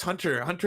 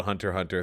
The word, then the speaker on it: Hunter x Hunter: to watch hunter x hunter hunter x hunter i was like oh cool hunter excellent is that like and they're like no no that's the x is silent i was like oh